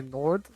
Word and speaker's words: Nord: If you want to do the English pronunciation, you say Nord, but then if it's like the Swedish one, you say Nud.